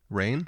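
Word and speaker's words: Raine: is uh it's not completely clear how to pronounce it but it's rain like like rain mhm the other composer uh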